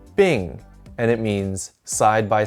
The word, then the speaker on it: 并: This is pronounced 并, and it means side by side.